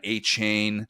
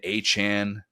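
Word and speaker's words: Achane: We had the whole Devon Achain turns into Achan, but Jean Robinson is now his name is how he's being known because he finally told people about that.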